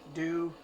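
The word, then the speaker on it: Dau: never pronounce his name d-a-u do I always want to say Dao but I think he says do or something like that um he plays it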